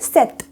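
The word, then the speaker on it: sept: 7 में यहाँ पर पी तो दिख रहा है सेट में, लेकिन हम इसका जो पी है वो साइलेंट होता है, पी का उच्चारण हम नहीं करते हैं यहाँ पे, तो इसे हम ऐसे ही बोलेंगे सेट।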